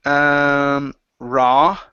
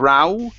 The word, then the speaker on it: raw: Next up, we have the word raw. Okay, so right here, instead of row, okay, pronounce an ah sound.